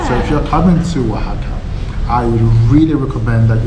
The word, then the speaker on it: Oaxaca: So we finally learnt how to say Oaxaca even if it's spelled very differently is how you pronounce it.